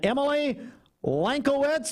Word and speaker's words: Emily Lankowitz: Mary Beth Canada and Emily Lankowitz, did I say it right? You did.